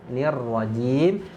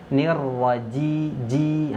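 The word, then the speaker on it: الرجيم: Baru yang terakhir pembahasannya di huruf jim, nirwajim. Nah, jim sini mau saya garis bawahi, yaitu seringnya bocor. Nah, jangan sampai kita membacanya nirwajiji. Nah, itu ya. Huruf jim itu keluarnya dari tengah lidah.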